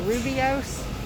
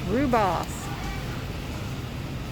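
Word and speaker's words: rooibos: looks like it's called it looks like it would be called rubios but someone told me they corrected my pronunciation politely he said it's rewboss and these right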